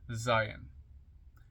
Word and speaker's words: Zayin: there it is there z a i n pronounced Zion transcribed as Z the